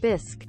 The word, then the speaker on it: bisque: a wait a minute am I pronouncing that correct I'm sorry guys I got to I got to be sure here take B bis scoop soup bis soup am I it's just bis right bisque yeah bis it's like there's